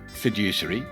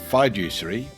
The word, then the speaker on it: fiduciary: Is it fiduciary or fiduciary or fiduciary or fiduciary? Well, the Oxford Dictionary says it's fidge, like fridge without the R, usury.